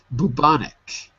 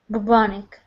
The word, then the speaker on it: bubonic: me Sylvia geneticist geneticist that's it and um bubanic bubonic like Bubonic plague and bonic plague that's it